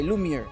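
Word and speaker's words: lumière: to read french it is a french word lumiere is how you say it i'm almost false okay lumiere okay yeah you're pronouncing it actually but it is a french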